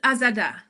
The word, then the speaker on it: Azada: I pronounced it right. Uh yes is Azada.